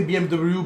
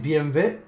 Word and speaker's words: BMW: a Ferrari to pass I say BMW but of course you have to pronounce it BMV BMV the ranking didn't